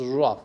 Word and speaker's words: rough: o-u-g-h is pronounced as rough the word rough is pronounced as this and the last sound is f okay rapha and and